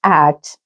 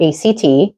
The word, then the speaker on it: ACT: Acceptance and commitment therapy, pronounced ACT, not ACT, is an evidence-based form of cognitive behavioral therapy that focuses on building something called psychological flexibility.